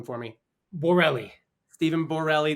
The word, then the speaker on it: Borrelli: Borelli. Stephen Borelli. That's exactly how it's spelled.